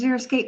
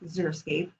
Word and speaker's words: xeriscape: a scene so together xeriscape but it's a funny word too people often mispronounce it it's that x it throws you up every time so here's a few